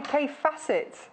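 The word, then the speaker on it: Kaffe Fassett: So, I've just remembered the little rhyme that I had to remember how to say k facet. It rhymes with great asset.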